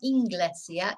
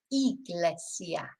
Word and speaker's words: Iglesia: you've always got to remember is Iglesia Church doesn't have an n in it yeah it's not inesia it's Iglesia whereas English engl does